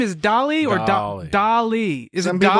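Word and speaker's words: Dalí: Is Dolly or Dolly. Dolly? Is Some it people Dolly? say Dolly, some people say Dali. It's like how Dilly. if you say spaghetti, but Italians say it's spaghetti.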